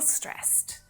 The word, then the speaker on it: stressed: We can feel stressed. We can look stressed. We can be stressed. And it's stressed, not stressed, but stressed. So I know that it's really odd to pronounce ed as a T sound, but that's a really